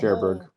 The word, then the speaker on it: Cherbourg: it's always sunny in I heard the people in the movie say sherberg but whatever sherberg yeah